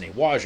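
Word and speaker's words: Nei Wai Chia: Now it's spelled N-E-I-W-A-I and then Chia, but it's pronounced Newaja.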